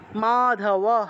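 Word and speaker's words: মাধবঃ: তাহলে সিয়ানন্দানে স্থিত স্থিত মাধবহ বিসর্গ থাকলে হ উচ্চারণ মাধব পান্ডব মাধবহ পান্ডব দিব্য শঙ্খ প্রদত্মাতুহ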